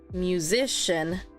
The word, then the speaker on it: musician: first or the third this one musician mu so here musician the Musician musician if I were to stress the first one musician if I stress the second one musician and in the end musician so yeah the second one is the stress this one flight is